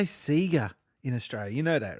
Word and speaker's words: Sega: See, we pronounced it that way because in 1983, they had TV commercials for the SC3000 Sega John Sands personal computer. And that was the only thing we had to go with was the commercials. So it was that Sega from that point on.